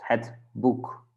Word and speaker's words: boek: And when we have those two, the two-letter combination, then we say it like U. So it's het boek, het boek.